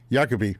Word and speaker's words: Iacopi: We have uh Yakobe. Am I pronouncing that right? Yak. Yakabe. Yakabe.